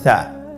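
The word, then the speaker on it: ث: মাখরাজ হল উচ্চারণ স্থান জিহ্বার আগা সামনের উপরের দুই দাঁতের আগার সঙ্গে লাগিয়ে উচ্চারিত হয়।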